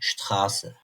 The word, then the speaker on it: Straße: Örneğin "grün" ß harfimizi asla b gibi okumuyoruz. "s" gibi okuyacağız. Örneğin "Straße".